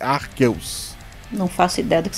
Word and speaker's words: Arceus: Eu sempre falei Arceus, mas eu acho que a pronúncia certa é Arqueus.